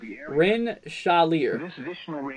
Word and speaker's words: Rensselaer: Rosemary says it's pronounced, let's see, Rensselaer. Rensselaer, right? Rensselaer. Oh my gosh, I can't even say it.